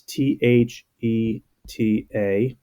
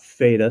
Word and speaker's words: theta: this is a great there's a Greek letter it's th e ta it's pronounced theta okay not feita sometimes sometimes people think